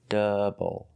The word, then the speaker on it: double: Again, OU is not making the sound ow, it's making the sound double.